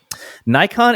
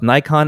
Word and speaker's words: Nikon: is not like English Canon like a shooting it out of Canon but something close to Canon with the no slightly nasalized and again very slight delay before the n Sound note that neither syllable in both Nikon and Canon I'm not saying it the way he's telling me to is accented both should have the same emphasis and then he tells